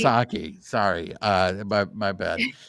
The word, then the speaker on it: Sasaki: So, the starting rotation is going to start to get crowded, which means now you look at Dustin May now Suzuki.